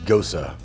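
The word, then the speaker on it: Gose: Boulevard Brewing Company hibiscus Gosa yeah that's pronounced go so like rosa you know I was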